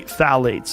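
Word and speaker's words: phthalates: the introduction of phalates it starts with a p p t h a l a t s I think it's how you spell it you say phalates and phalates are a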